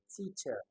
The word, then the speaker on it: teacher: So teacher has it on the first syllable as letter. All the other ones have it on the second.